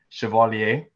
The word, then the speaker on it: Chevalier: I know it's pronounced Chevalier, and Kelvin.